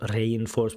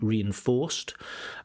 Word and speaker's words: reinforced: And this reinforced frames and reinforced, so not reinforced, but it should be reinforced. So the stress is not on re, but the main stress is on or, reinforced.